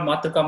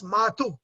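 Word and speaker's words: Matṛ: So in Sanskrit, Matru is speech, but it is mispronounced in Kannada as Matu.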